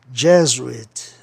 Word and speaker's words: Jesuit: Então a sílaba tônica tem que ser no E, de Gé. Jesuit, né?